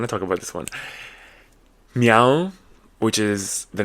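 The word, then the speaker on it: MEOVV: talk about this one meow which is the name of a group a K-Pop group like but it's spelled like me Al it's like what the m e o double v and then they put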